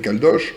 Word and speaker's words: Caldoche: et je lui dis ça s'écrit C a l d o C H e comme Gavroche ou comme cloche parce que ça désigne